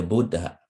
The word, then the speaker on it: Buddha: Thus, the Buddha is spoken as a long syllable followed by a short one.